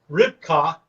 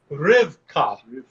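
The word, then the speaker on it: רבקה: hey is your h so it reads rip ripcock but it actually is pronounced rivka rivka is the name of rebecca what a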